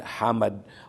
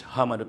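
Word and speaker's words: حمد: Yung iba ah naririnig ko sinasabi lang niya ng hamad hamad hospital. Normal lang na it's Hamad pero hindi yun ang tama. Hindi yun ang talagang pronunciation nung first letter nung word na Hamad na ospital. So ganito talaga siya. Hamad. Ito na. It's Hamad. Hamad.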